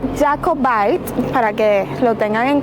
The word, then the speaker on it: Jacobite: lo pronuncié mal, claro, en español se escribe como Jacobite, pero en inglés se pronuncia Jacobite, para que lo tengan en cuenta.